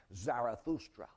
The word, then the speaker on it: Zarathustra: a prophet in Persia named zoroaster of course that's the Greek pronunciation his name was really zarathustra but he had taught